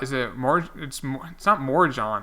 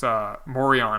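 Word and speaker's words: Morejón: It's not Morjon, it's Morion, I think.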